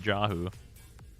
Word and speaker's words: Jahu: foss and the yeah it's yahoo yep that's correct am i running low